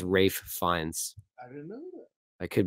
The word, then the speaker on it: Ralph Fiennes: always say Rafe I I thought it was like Rey finds I'm like why is it spelled like Ralph but I think he was supposed to say like Rafe finds so like the F in the rafe and the fun the fines get Blended together so it sounds like Ray finds I think it's Rafe